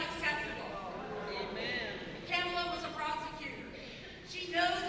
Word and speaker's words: Kamala: Vice President, soon to be President-elect Kamala Harris, and it's Kamala, like a comma.